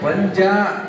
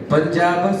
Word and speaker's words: ಪಂಜಾಬ: ಸರಿ okay good ಅಲ್ಲಿ ಪಂಜಾಬ್ ಪಂಜಾಬ್ ಅಂತ ಬರುತ್ತೆ ಉಚ್ಚಾರಣೆ ಪಂಜಾಬ ಸಿಂಧು ಪಂಜಾಬ ಸಿಂಧು ಪಂಜಾಬ್ ಸಿಂಧು ಅಲ್ಲ ಅದು ಉಜ್ಜನ್ ಏನು ಕೇಳಿಸುತ್ತೆ